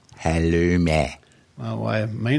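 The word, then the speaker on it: halloumi: You should go and eat some halumi. That's pronounced halumi.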